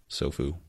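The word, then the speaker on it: Tsofu: The T is silent. Sofu.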